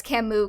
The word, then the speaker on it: Camus: Yeah, it's Camus because it's French. And the French don't like pronouncing letters.